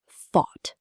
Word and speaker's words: thought: Sounds like thought. Rhymes with caught, bought. Tip, the OUGH here sounds like aw. Just one syllable.